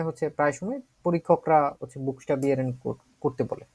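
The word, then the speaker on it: buchstabieren: বুক এইটা একটা অংশ, তারপরে স্টা, তারপরে হচ্ছে মানে বুক, এবং তারপরে স্টা, তারপরে বিয়া, তারপরে হচ্ছে রেন। ঠিক আছে?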